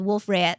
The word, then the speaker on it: Wolf-Rayet: it's French, you don't pronounce the trailing consonant. Right. I So recently- Wolf-Rayet.